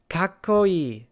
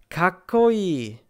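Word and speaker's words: かっこいい: The pronunciation again is kakkoi, kakkoi. Zettai, zettai. Gakko, gakko. You basically pause on the first consonant and then continue with the second.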